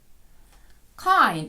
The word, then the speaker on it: kind: of Pen is this kind зверніть увагу читається не по правилам Хоча і здається закритий склад але читаємо I what kind ми питаємо